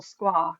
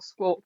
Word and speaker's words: Squark: Is it squawk or squark? And I prefer squark because I like the sound. But if Mm. somebody say to me your squawk design, it doesn't offend me.